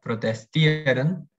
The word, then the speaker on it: protestieren: que es un diptongo, IE, se pronuncia solo la I larga. Es decir, por ejemplo, aquí, protestar, protestieren, o sea, decimos protestieren, solamente como protestieren, una I larga.